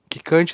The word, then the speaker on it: Kickante: Quicante se escreve Kickante.